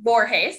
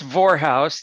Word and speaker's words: Vorhaus: when we do and please meet vorheis did i sound say that correctly uh you're in the ballpark correctly it's vorehouse that rhymes with well never mind it's easy